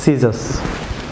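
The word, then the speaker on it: scissors: যেমন সিজার্স, viewers সিজার্স, আমার সাথে বলুন সিজার্স, এখানে সি সাইলেন্ট থাকবে ভিউয়ার্স।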